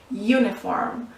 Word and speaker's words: uniform: It sounds like you, like Y-O-U, you.